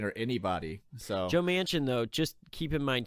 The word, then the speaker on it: Manchin: do you say his name it's me and Manchin yeah he came out he's criticizing Nancy Pelosi